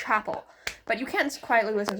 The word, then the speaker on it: Chappell: And you can't quietly listen to wait, it's not Chappelle, it's Chapel.